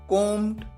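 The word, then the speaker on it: comb: taken taking बाल बनाना कोम कोम कोमट कोमिंग यहां पर आप ध्यान रखिए बी साइलेंट होता है बी का साउंड नहीं आता है कोम लाना ब्रिंग ब्रॉट ब्रॉट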